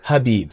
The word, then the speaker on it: Khabib: And I'm like, Khabib, it's Habib. The K is silent.